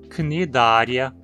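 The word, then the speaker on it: Cnidaria: Praticamente sempre que você encontrar um nome terminado em ia, você vai pronunciar como uma proparoxítona, porque esse ia é sempre curto e vai estar na penúltima sílaba. Então o mesmo se aplica aos nomes spiralia, cnidária, bilatéria, ambulacrária, deuterostômia, protostômia.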